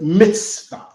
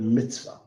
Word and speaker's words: mitzvah: This word commandment is the Hebrew word mitzvah. It's spelled M-I-T-Z-V-A-H.